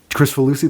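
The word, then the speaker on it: Kricfalusi: Chris Falusi, that's how you pronounce Yeah, not it? Crick Falusi.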